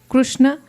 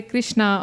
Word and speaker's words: Krishna: Yeah, different places, devotees pronounce it slightly differently. And in Shastra, it's mentioned also, Chaitanya Charitamrita, in fact, that various pronunciations, there are slight variations according to culture, but Krishna understands that you're calling his name, so it'll be okay.